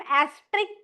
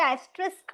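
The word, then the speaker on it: asterisk: कुछ-कुछ लोग एस्ट्रिक बोलते हैं। कुछ-कुछ लोग एस्ट्रिस्क बोलते हैं। बट एस तो आता है बॉस स्पेलिंग में। इट्स नॉट एस्ट्रिक सीके ठीक है बेसिकली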